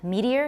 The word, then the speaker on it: meteor: many syllables reality for similarly meteor will be two syllables for some people but three for those who consider it the same as the stem in meteoric his meteoric rise to fame how many syllables see we're using our fingers and meteor has how many and I suppose you could meet here it sounds very odd to me as two syllables for me it is definitely three meteor media but anyway different